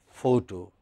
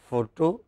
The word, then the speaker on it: photo: So, let us for instance look at this word photo or photograph. It has stress on the first syllable, pho. Okay. Whether you say photo or you say photograph, it is stressed on the first syllable.